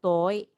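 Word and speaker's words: 遠い: Notice that above the vowel o, it has a line on top, meaning to say you need to prolong the sound toy.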